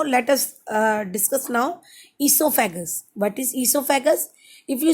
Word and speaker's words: esophagus: us uh discuss now esophagus what is esophagus if you see see the spelling o is silent here okay esophagus only is a